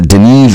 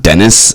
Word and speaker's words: Denis: As long as you're saying Denis and not Dennis or Denny.